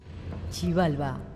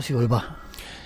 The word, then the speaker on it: Xibalba: Chibalba, el mundo oscuro de los mayas. ¿Cómo se dice? Sivalba o Sibalbá. Sibalbá. Sivalba.